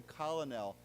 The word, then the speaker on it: colonel: And we've talked about this before, but it's not pronounced that way, right? We don't say colonel, we say colonel, okay? So like K-E-R-N-A-L, like colonel, okay?